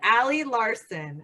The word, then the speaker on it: Ali Larson: Oh, I'm here with ALI LARSON.